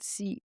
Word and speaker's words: Chasnel: But her full real name is Gabrielle Chanel, and her original name was spelled Chasnel with a silent S.